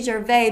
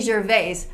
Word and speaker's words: Gervais: I always pronounce it Ricky Gervais because in French, that's how you would say it. You would not pronounce the S, but he clearly says Ricky Gervais, so I got to get into that habit.